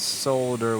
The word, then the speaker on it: solder: Since you Europeans have been so nice today, I will pronounce solder with an L.